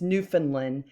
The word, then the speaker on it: Newfoundland: You pronounce it Newfoundland. I know it looks like Newfoundland, but it's Newfoundland.